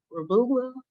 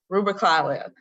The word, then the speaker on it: Rubalcaba: After that, you'll have to send them to Mr. Rububla. I can't really pronounce his name. Do you know how to pronounce it, Mr. Boehner? I always pronounce it incorrectly. Rubalcaba.